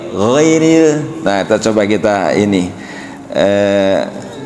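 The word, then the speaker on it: غير: Jadi bukan giril bukan gitu tapi ghairil.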